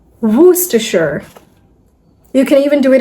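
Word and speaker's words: Worcester: This is usually mispronounced as warestershire or something like that. I don't know if you guys know the meaning of it. Well, it's a city. So this is not Warcester. It's Wooachure. Woohasher.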